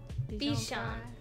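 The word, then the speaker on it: bichon: make a second one bijan like dijon mustard uh actually i don't know how to spell it but i'm pretty sure it's not like that there it is it's spelled i don't want to spell it out loud because i'm bad at spelling out loud but b-i-c-h-o-n like that b-sean like french because it's french he's a french doggo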